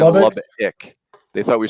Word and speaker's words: Lubbock: So, gentlemen, let's go to Lubbock. And Kendall, I got criticized, Ravi and I, on Twitter for our pronunciation of Lubbock.